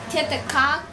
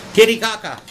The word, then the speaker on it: Titicaca: Farmer Tice's wife was visiting her mother for a week, so he decided to go on vacation to Lake Titicaca. I don't know how you pronounce that.